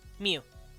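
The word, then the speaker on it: miw: good example of this their word for cat was mew mew that's that's the word they used mew it was literally spelled like m-i-w mew and it's the cutest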